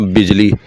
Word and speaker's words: बजल: वल्द मियाँ फ़रीद भट्टी, ये वालिद साहब थे, जबकि दादा का नाम था मियाँ बजल या मियाँ बिजली सांदल भट्टी। क्योंकि एक बुक में मैंने बिजली भी पढ़ा है, लेकिन हम यही प्रोनाउंस करेंगे मियाँ बजल।